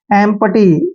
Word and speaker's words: empty: आता है तो ये ई का उच्चारण ए करते हैं, और एम को आधा मैं लिखेंगे, और पी का उच्चारण पै करते हैं, TY को टी पढ़ना है। एम्पटी, एम्पटी होता है खाली,